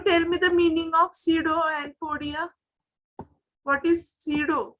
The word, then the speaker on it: pseudo: Can you tell me the meaning of pseudo and podia? What is pseudo? Pseudo, or you can pronounce zero. P is silent here.